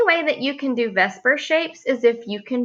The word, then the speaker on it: VSEPR: up with VSEPR theory that I pronounce it Vesper it's what I was taught valence shell electron pair